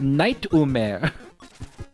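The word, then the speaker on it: ナイトメア: Um and in Japanese nightmare is said night umeare three syllables.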